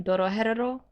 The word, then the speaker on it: Dorohedoro: You watched Dorohedero, right? Am I saying it right? Dorohedoro?